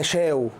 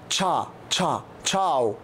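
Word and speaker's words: ciao: بس عشان خاطري رجاء النطق ما اسمهاش تشاو ولا اسمها شاو اسمها تشا تشا تشاو تشاو تشاو دي ايه هتخلينا كده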